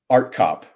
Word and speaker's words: Artkop: Greg how how do I pronounce your last name correctly art cop just just like it looks it's it's a little scary because of all the craziness in there but uh it's it's just pronounced art cop okay all right well